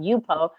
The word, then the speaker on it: Yupo: I've been working on Yupo, and that's how you pronounce it, Yupo.